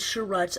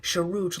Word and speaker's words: Chirrut: Alright, so here we have Chirrut Îmwe, and apparently his name is Chirrut, I learned, and it's not Chirrut like I pronounced it in my Lego video, in my Lego review of the official minifigure of this guy.